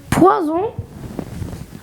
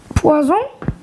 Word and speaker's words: poison: la dernière, qui est on prononce le SZ seulement quand il est entre deux voyelles.